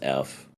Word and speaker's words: ef: It's called EF, or it's just pronounced F.